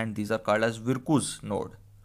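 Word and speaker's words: Virchow: These are called as विरकुस node. विरचू node भी कुछ लोग प्रोनाउंस करते हैं, कुछ लोग विरकू पढ़ते हैं, सो दिस इज़ विरकू नोड।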